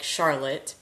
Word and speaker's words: Charlotte: I grew up in Charlotte, Michigan, and that is spelled like Charlotte, but pronounced Charlotte for whatever reason.